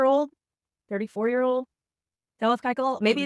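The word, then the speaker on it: Keuchel: the Brewers acquiring Dallas how do I say Dallas's last name KY wrong I know you say it right Dallas kyel for $1 from the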